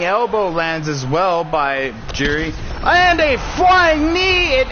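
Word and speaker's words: Jiří: So his name, I butchered his name. It is Jiri, and we will go ahead and announce that correctly going forward.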